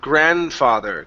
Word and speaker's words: grandfather: We're going to do the same thing with grandfather. Okay, but we want the gr here instead of grandfather. It's grandfather. Okay. Do not pronounce the D. The D is silent.